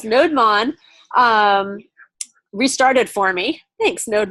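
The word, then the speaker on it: nodemon: oh look node lon notice the two syllables node Mon restarted for me thanks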